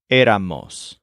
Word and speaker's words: éramos: The nice and easy thing about the bouncy house is that the main syllable in the word is always er. And for we also have the group of most of our friends. So it's éramos.